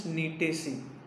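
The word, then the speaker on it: Gnetaceae: So the spelling is from G, but the pronunciation is Nitaceae.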